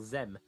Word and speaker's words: Zem: Or Zem, that's how you say it.